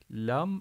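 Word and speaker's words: لا: Bunun adı la Elif bu da lam gibi okunur fakat uzatılarak okunur Neden Çünkü bir tarafı Lan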